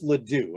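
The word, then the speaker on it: LeDoux: great neuroscientist anything by a guy named joseph ladue and i'll spell that l-e-d-o-u-x he has done a lot of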